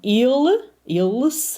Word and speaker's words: ils: Ils, right? We don't pronounce that S, but il, the plural form.